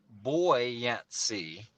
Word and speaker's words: buoyancy: a ghost antsy buoyancy because out in the ocean you have buoy markers not bowie markers like buoyancy so anyway we looked it up and it is pronounced boy yancy but the derivative of